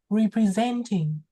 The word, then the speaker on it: representing: Representing representing because it's the the the the stress of the word is on the third syllable. Represent. Representing the the third syllable sent.